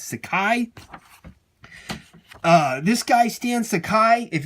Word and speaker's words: Sakai: you say it sit I always said stand Sachi but I believe it's Sakai this guy Stan Sakai